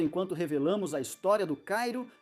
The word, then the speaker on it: Cairo: o chamaram de Cairo, que me disseram que os moradores locais pronunciam como Cairo.